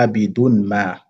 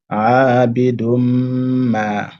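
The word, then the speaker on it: عابد ما: On ne dit pas abidun ma. Et on fait la liaison avec le mim. Ça donne quoi? Abidum ma.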